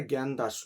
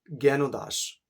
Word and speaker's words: জ্ঞানদাস: কখনো এটা জ্ঞানদাস নয়। উচ্চারণ জ্ঞানদাস।